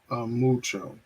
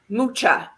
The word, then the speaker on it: Mucha: Alphonse Mucho. Mucha. Okay, so I'll spell it for you.